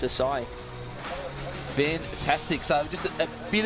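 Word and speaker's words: açaí: try out an oakberry acai not pronounced Akai well that can be pronounced many different ways but um if you speak to a Brazilian because that's where it's from oh is it it is yeah it's uh it's a sigh fantastic so just a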